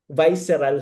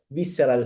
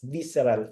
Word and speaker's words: visceral: I heard somebody said visceral fats. It should be pronounced as visceral fats because it's spelled as VISCERAL. It's visceral fats.